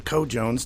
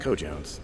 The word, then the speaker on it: cojones: H g101 has the Cod Jones to objectively definitively scientifically rank the top games of all time no it's definitely pronounced cojones HG 101's top games twice